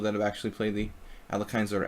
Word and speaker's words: Alekhine: amount of people that have actually played the Alekhines or Alyakhines.